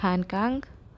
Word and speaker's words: Han Kang: It's uh the vegetarian by Han Kang. That's how you pronounce it.